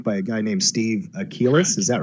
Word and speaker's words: Achelis: a guy named Steve Achelis. Is that right? Mm-hmm. Yeah, it's actually pronounced Achelis.